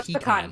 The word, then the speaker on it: pecan: There are 4 pronunciations though. There's pecan. Yeah. Mm-hmm. It's the P and pun, the con and can. Hey, and then also I think I believe it's pronounced picante. I'm leaving. All right. So, what's pecan? she can't with us any longer.